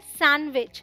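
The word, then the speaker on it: sandwich: मुझे पसंद है सैंडविच जी हां डी साइलेंट है यह है सैंडविच आपने बहुत सारे हैंडसम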